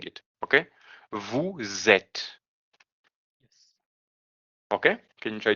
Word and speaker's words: vous êtes: end of the word, we are gonna pronounce the S in the end of the word when we're gonna have a vowel in the next word. Okay. For example, here it ends with an S and ed start with an E. So what we're gonna do? We're gonna link those two when we're gonna pronounce them. Okay? So instead of saying vous êtes, not été, okay? We're gonna say vous êtes.